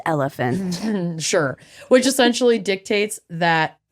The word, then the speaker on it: Oliphant: It's pronounced elephant.